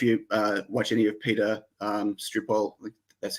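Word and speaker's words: Sripol: don't know if you watch any of Peter Stripol, that's how you say his name.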